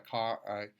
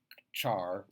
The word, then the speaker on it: char: is pronounced different ways I call it a car care because I know it's going to be a character but it's also pronounced char because that's how it's spelled a chart is one